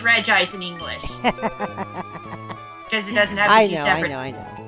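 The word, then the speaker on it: Regice: Just the stuff about Reg Ice's name. Hmm. It's Regi Ice in Japanese, at the very least.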